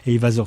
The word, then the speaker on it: Heyvasor: Eyvasor, ça s'écrit HEYVASOR.ch.